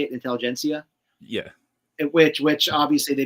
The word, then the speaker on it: intelligentsia: now teasing the I always say it wrong intelligents yeah does everybody say it Intelligentsia yeah which which obviously they made the announcement